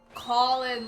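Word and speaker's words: Cawlan: Colin, like, oh, like a crow going caw. Okay, that just occurred to me. Because it's spelled like C-A-W-L-A-N.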